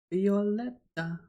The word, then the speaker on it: Violeta: Violeta. Bit more pronunciation, like emphasizes on the eta at the end.